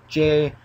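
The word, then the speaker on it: ゴジラ: way of spelling it, and the Japanese, I think it's Grojila, which is pretty much the Japanese way of saying and pronouncing it.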